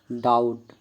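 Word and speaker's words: doubt: में ब साइलेंट है बी साइलेंट टी से पहले आया हुआ बी प्राय साइलेंट होता है जैसे डेट डाउट इन सभी वर्ड में बी साइलेंट है सी साइलेंट एस के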